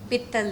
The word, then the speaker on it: पित्तल: Even baby doll जब मैं सीख रही थी तो वो कहते ये दुनिया पित्तल दी, मैं कह रही थी ये दुनिया पीतल दी.